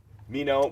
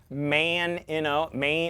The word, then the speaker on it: Meinoh: They would say Main, like chow mein, Meinoh. They would say me, no, nothing.